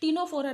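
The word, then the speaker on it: Ctenophora: एक का नाम निडेरिया रख दिया गया है, इसमें सी साइलेंट है, और एक का नाम टीनोफोरा रख दिया गया है, वो भी सी से लिखा जाता है, उसमें भी सी साइलेंट है।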